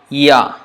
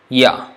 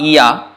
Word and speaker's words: ya: Ya. It's not Iya, but Ya. You don't actually pronounce the E in the beginning. You just go directly from that mouth position to A. Ya. Ya. Not Iya.